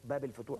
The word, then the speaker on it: Bab El Futouh: porte El Futouh ou Bab El Futouh comme ils disent, comme on le prononce en égyptien.